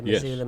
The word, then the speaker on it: Missoula: let's lock it up with Angela and uh missula Montana is that how you pronounce it yeah Missoula Montana thank you are there any seasonal promotions